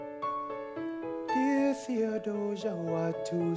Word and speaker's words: Theodosia: no oh i okay you do pronounce the h i was looking at i'm like why is it not dear teodosia but yeah dear theodosia i apologize to any